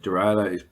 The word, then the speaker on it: derailleur: Please note that derailleur is spelt and pronounced in French because they are French words.